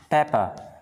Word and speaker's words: pepper: Pepper. Chia R sau không phát âm.